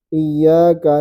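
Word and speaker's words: إياك: Orang kebanyakannya baca panjang ini. Iyaka na'budu wa iya gak boleh. Karena meskipun ketemu wau tapi bukan wau sukun. Jadi tidak ada syarat dia panjang. Gak ada sebab dia panjang.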